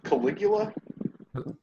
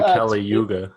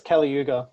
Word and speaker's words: Kali Yuga: Yeah, How do you pronounce it? Caligula? I've been saying Kali Yuga. Yeah, it's Kali Yuga.